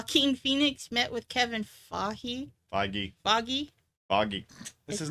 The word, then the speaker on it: Feige: They say Kevin Feige. Foggy. Okay. I don't know why I want to say Figy. I don't know why I want to give it a soft G.